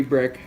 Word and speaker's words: Brix: Now brick is spelled B-R-I-X, not the chimney brick, not a house brick.